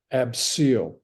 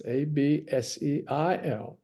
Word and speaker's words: abseil: It's not spelled phonetically. You can't hear that I, right? Abseal, Seal. That's the seal I know.